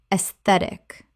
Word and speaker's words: aesthetic: Aesthetic. Common mispronunciation. Aesthetic. Correct pronunciation. Aesthetic. Three syllables. The a e makes an e sound and the stress falls on the second syllable.